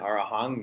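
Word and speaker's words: arahaṃ: It looks like it should be pronounced with an M, but in Pali with the little sign underneath it's pronounced NG sama.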